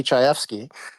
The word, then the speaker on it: Chayefsky: Now, shortly after that happened, the legendary screenwriter Patty Chayefsky, who is a that's how you stunningly pronounce it.